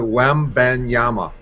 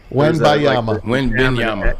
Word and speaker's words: Wembanyama: No, you're close, but Wembanyama. Wembanyama.